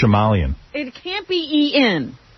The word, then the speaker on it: Shyamalan: It's actually not so big, I know how to pronounce his name. It's Shyamalan. It can't be E-N. It's Shyamalan. Okay. M. Night Shyamalan.